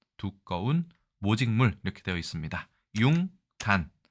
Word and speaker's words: 융단: 이 단어는 우리가 융단이라고 읽습니다. 공예 용어네요. 양털 따위의 털을 표면에 보풀이 일게 짠 두꺼운 모직물 이렇게 되어 있습니다. 융단, 발음 요소가 작용했을 가능성이 매우 크죠.